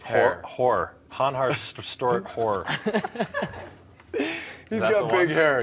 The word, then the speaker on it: hår: Han har stor hår. Can you just pronounce that last word? Han har stort hår.